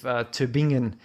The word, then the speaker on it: Tübingen: this research team in the University of Tübingen, and Tübingen. correct me if I got that pronunciation incorrectly.